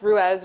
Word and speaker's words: Ruis: elder and to the celtic tree alphabet letter ruse or ruez so um it's pronounced rues which is a word that's derived from the